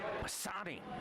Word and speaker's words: Pisani: So from there, we are going to Hudson Pisani. Yeah. Rhymes with Dasani.